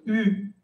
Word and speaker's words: eu: Attention, eu. Recuerden que el participe passé d'avoir y todas las formas participe passé d'avoir siempre se pronuncian como si no existiera la e.